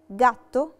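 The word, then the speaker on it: gatto: عندنا لاليترا جي لو جي وراها لاليترا ا بننطقها جا وبننطقها جي دورا. ومثال عليها كلمة جاتو، جاتو يعني قطة.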